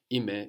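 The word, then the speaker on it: είμαι: No, ime is spelled E-I-M-A-I, and you have that A-I on the end giving us the e sound as you do in ome.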